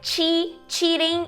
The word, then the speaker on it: cheating: CH é cheating, e o outro é shitting, ok? A vogal é diferente, né? Chi, long vowel, e também o comecinho ali da palavra.